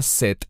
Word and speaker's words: Set: Normalmente Shet se pronuncia set en español, pero lo que quiero